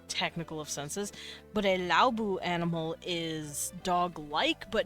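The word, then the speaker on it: Laobo: So, Laobu. Which technically is spelled L-A-O-B-O, but they pronounce it Laobu. Laobu.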